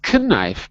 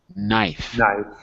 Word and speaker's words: knife: in his side not knife but knife the k is silent very good these are